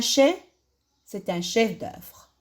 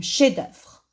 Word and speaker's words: chef-d'œuvre: On peut dire c'est un chef-d'œuvre. Un chef-d'œuvre. On ne prononce pas le F.